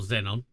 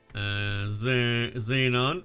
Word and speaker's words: Xenon: Or Xenon. Depending on how you say it, chat. Both are correct, by the way. Xenon.